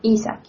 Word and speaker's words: Isaac: Did I pronounce his name correctly? No, Isaac.